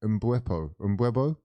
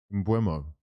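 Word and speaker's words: Mbeumo: Mbuepo. I want to get his name right. It's disrespectful. Stop fucking getting his name wrong. Twisted your whole fucking club up. His name is Mbuemo.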